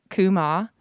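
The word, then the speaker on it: קומה: has a title that's written in hebrew it's pronounced kuma and it roughly translates to rebirth revival resistance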